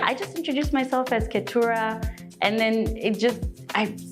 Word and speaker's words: Keturah: I introduce myself as Katura.